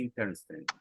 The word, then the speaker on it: interesting: You don't pronounce basically, let's say that we don't pronounce this.